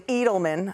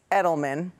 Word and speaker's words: Edelman: I have no idea I was pronouncing Eagleman apparently it's Edelman so this is kind